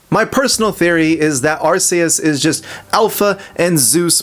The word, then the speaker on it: Arceus: So, stop presenting your obscure as hell Archus as evidence for your wrong pronunciation. If it was truly Archus, it'd be spelled differently.